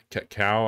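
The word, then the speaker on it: Kakao: south korean developer yeah cow i think is how you would say it's not spelled like cacao would be but um they've got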